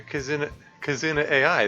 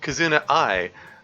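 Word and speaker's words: Kizuna AI: oh right so I was pretty big into Casino AI the the or sorry kazuna I the virtual I'm sorry she pronounces her name uh the virtual YouTuber at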